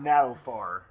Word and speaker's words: Nagelfar: I'm pretty sure it's pronounced Nagelfar in the Swedish tongue.